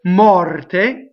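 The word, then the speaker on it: morte: So mɔrte, open O, rolled R, closed E.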